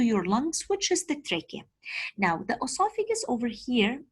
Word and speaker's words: trachea: It's called trachea. What is it called? Trachea. The CH pronunciated as K.